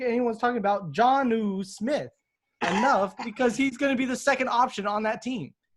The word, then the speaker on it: Jonnu: Jonnu Smith. John. Okay, you gotta say John and then new. Got you. Jonnu Smith. John Ooh.